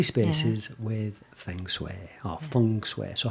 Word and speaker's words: feng shui: just say feng shui fung sweat yeah i what i did is i wrote it phonetically and put f-u-n-g s-w-a-y so that i would pronounce it correctly i know that's not